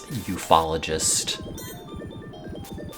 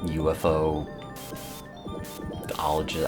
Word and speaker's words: ufologist: And like, I don't know, the only thing I've retained is the fact that you could pronounce it as ufologist instead of like UFO ologist, I don't know.